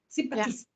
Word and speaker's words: sympatisk: Sympatisk. Is that how you say it? Sympatisk. Sympatisk. Yes. That's in the middle.